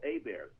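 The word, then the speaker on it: Heberts: And people will say, how do you spell A-Bears? I say, it's spelled just like it sounds, H-E-B-E-R-T-S. So anyway, Right.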